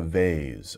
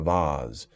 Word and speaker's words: vase: man here is making a vase or a vase different pronunciations where you put flowers